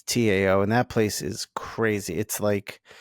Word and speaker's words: Tao: you live there it's to downtown yeah or pronounced Dao but it's Tao and that place is crazy it's like it's